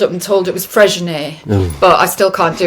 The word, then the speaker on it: Freixenet: is the, and I know I'm going to pronounce this wrong, it's the Freixenet. I Oh would say yeah. Freixenet. So I I call it love that. Frexinet, but yeah, Freixenet, Yeah, yeah.